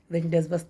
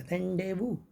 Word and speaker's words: rendezvous: होता क्या है, रेंडेजवस नहीं पढ़ते बल्कि उसका सही उच्चारण, सही तलफ़ुज़, सही प्रोनाउंसिएशन होता है रेंडेवू, रेंडेवू, रेंडेवू, REN।